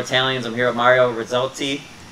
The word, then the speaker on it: Rizzotti: I'm here with Mario Rizzotti. Say it right. Yeah, I'm just kidding. Yeah, you say it right. That's okay. Rizzotti. It's a little tricky to pronounce.